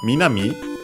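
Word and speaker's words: 南: Uh then we have Minami south means south. We have seen that all these uh uh these uh directions the cardinal directions, the fundamental ones which use strictly Japanese uh words uh are unacented.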